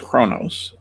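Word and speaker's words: Qo'noS: Yeah, the Klingons were a humanoid warrior species that originated from the planet Kronos, pronounced Kronos, an M-class planet in the Beta Quadrant, one of the major powers of the galaxy.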